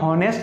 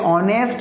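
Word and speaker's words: honest: निर्भर है उच्चारण पर, ये एच को पढ़ते नहीं है, इसको हम पढ़ते हैं ऑनेस्ट, क्या पढ़ते हैं ऑनेस्ट, ये शुरू होता है ओ से, इस तरह लगा दिया एन, एच यहाँ पर साइलेंट है, ये हॉनेस्ट नहीं है, ये क्या है ऑनेस्ट, ठीक है एन ऑनेस्ट मैन।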